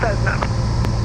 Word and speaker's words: Cessna: prior to your arrival, Cessna. Roger, 0 Juliet Alpha. Wind, light variable. Got control of that pronounces Cessna like that Z's in it.